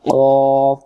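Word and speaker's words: قاف: আমরা অনেকে এটাকে বলি কাফ আসলে কাফ উচ্চারণ ভুল এটাকে এরকম হবে শব্দ হবে দেখেন কফ জিহ্বার গোড়াটা যেখানে শেষ হবে সেখান থেকে ভেসে আসবে মুঠো গোল করে অফ কফ কঠিনের কিছু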